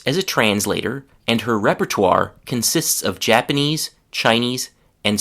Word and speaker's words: repertoire: This sounds kind of French and it is from French. So you spell it like this. R E P E R T O I R E.